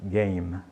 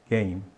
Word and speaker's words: game: não diga game né esse e no final aí não é pronunciado e esse M em inglês ele é fechadinho game game e f em inglês